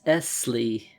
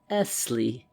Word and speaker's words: Esley: name he said is Esley he pronounced the word lingering upon the double s till it sounded like a long hiss Esley he repeated as though